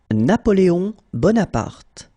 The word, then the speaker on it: Napoléon Bonaparte: avec Vincent et dans cette vidéo nous allons prononcer ensemble 10 personnages historiques français 10 personnages historiques Français Napoléon Bonaparte na poéon Bonaparte Napo Bonaparte Charles de Gaulle